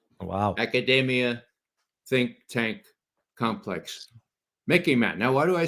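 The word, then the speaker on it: MICIMATT: Instead of the MIC, instead of the military industrial complex, we have what I call the Mickey Mat. Okay. You can remember it. It sort of rhymes with Mickey Mouse, but it's much more serious.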